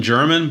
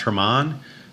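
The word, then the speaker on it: Germán: in ay anyway okay I would call him Franklin German but I'm pretty sure it's pronounced Hermon so Franklin Hermon is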